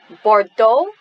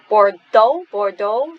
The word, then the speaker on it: Bordeaux: Try a Touch of Bordeaux. So this is a French word, it's a place in France. Bordeaux, we don't pronounce the consonant at the end.